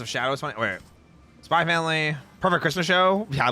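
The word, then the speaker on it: Spy × Family: is it just spy family or is it spyx family do you pronounce the X in that cuz Hunter Hunter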